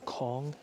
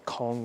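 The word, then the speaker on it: Cong: a little village called Kong I think that's how you pronounce it c-o-n-g exited in doing so I have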